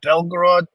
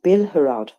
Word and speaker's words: Bilhorod: Is it Belgorod People's Republic or the People's Republic of Belgorod? It's actually Bilhorod People's Republic. Bilhorod. Bilhorod. Yes, correct.